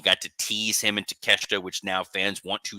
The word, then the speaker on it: Takeshita: Next up, we have that Continental title match, the Fatal 4-Way between Okada, Orange Cassidy, oh my God, Takeshita, and oh my gosh, Mark Briscoe.